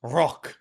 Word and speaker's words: Rauque: But I think it's pronounced Rauque because it's French for your voice going hoarse.